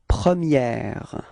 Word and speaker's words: première: Okay, so don't be afraid to insist a little bit. Première. Okay, and pronounce it quite correctly, because if we don't, if you don't, then I will understand the premier.